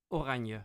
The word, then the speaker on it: oranje: oranje.